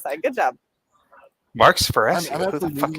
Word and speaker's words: Sparacio: Mark Sparacio.